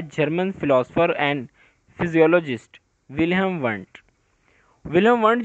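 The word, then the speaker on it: Wundt: वो था William वंट। डी जो है इसके अंदर साइलेंट है, हम डी को नहीं पढ़ेंगे, वंट पढ़ेंगे, विलियम वंट।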